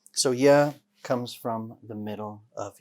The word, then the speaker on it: ي: yeah yeah very good letter yeah is light so make sure that the back of your tongue stays flat when you pronounce this letter don't make it bold don't say ya right keep the back